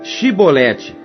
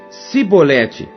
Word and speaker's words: Shibolete: Então lhe diziam: Dize, pois, Shibolete. Porém ele dizia: Sibolete, porque não o podia pronunciar bem.